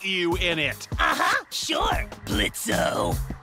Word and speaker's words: Blitzo: Uh-huh, sure, Blitzo. The O is silent now, bitch.